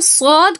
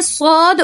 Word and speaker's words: صاد: موٹا پڑھا جاتا ہے، منہ بھر کے پڑھا جاتا ہے، تھوڑا بھاری پڑھا جاتا ہے۔ اگر آپ نے صاد اور سین کے اندر فرق نہیں کیا تو قرآن مجید کے اندر صاد کے تلفظ کی جگہ کیا پڑھیں گے؟ سین کا تلفظ کریں گے، کیونکہ سین اور صاد ایک ہی جگہ سے ادا ہونے والے حروف ہیں، ان کے اندر فرق پر اور باریک کا ہے، تو اس چیز کو